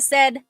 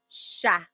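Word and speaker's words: siya: But the s i y combination that makes a sh sound. So in sha.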